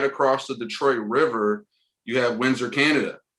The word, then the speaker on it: Detroit: And fun fact, Gabriel, I don't know if you know, the Detroit French, I think it's pronounced Detroit.